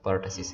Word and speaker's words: pertussis: ठीक है, इसको कुछ लोग पर्टसिस, कुछ लोग क्या इसको प्रोनाउंस करते हैं, लेकिन जो सही प्रोनाउंसिएशन है वो हमारे साथ पर्टसिस है।